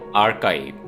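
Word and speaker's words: archive: हरीफ आर्काइव दोस्तों य word है आर्काइव यानी सी एच की आवाज जो है वह होगी काफ की आर्काइव इसका मतलब है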